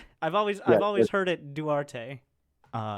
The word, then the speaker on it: Duarte: yeah, I've always heard it Duarte, in Duarte, my yeah.